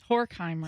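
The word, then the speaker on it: Horkheimer: Horheimer. Horheim. Yeah. Hor. Hor. Yeah, you're right. Yeah. Rhymes with dork.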